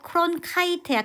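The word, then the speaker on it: Cronkite: 그래서 여기 보시면 월터 크론 카이트야. 카이트 매직 2라고 해서 아이 발음 나는 거고.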